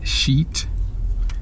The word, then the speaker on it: sheet: Be sure how you pronounce that word. It's sheet, because there's another word that's kind of similar, and you don't want to confuse those two. I'm not going to say it, but it's pronounced S-H-I-T, and it's something that I guess comes out of you when you use the bathroom, but that's pronounced differently.